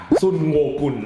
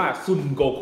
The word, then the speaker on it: ซุนโกคู: ต๋อย เป็น คน ภาค ซุนโงกุน นะ ครับ น้า ต๋อย จะ ชอบ ออก เสียง อย่าง นี้ นะ ฮะ แต่ จริง ๆ แล้ว คอมิค เรา จะ อ่าน ชื่อ ต ๆ ว่า ซุนโกคู นะ ครับ อ่า เสร็จ แล้ว นี้